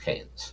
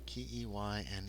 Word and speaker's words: Keynes: It's spelled It's spelled ke y n s but it's pronounced canes. Keynes can.